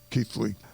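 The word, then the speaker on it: Keighley: of authority uh mickey crocker's parents are from keith league that's the news in westford for the week ending october 35th 31st 1908.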